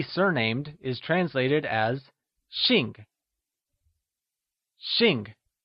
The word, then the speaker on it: xìng: To be surnamed is translated as Xìng Xìng is spoken in the falling tone also known as the fourth tone Also remember,that x is always spoken with a sh sound in Mandarin! Lets hear you say Xìng Wonderful!